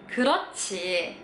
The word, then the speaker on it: 그렇지: Dan kalau huruf H ketemu sama J jadinya kayak ca dibacanya. Jadi ini dibacanya 그렇지.